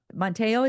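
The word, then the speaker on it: Manti Te'o: And so, Monteo, is that how you say his name?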